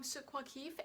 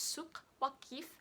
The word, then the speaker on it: Souk Waqif: In Arabic it's Souk Waqif, so this is kind of back from the throat if I'm pronouncing it correctly.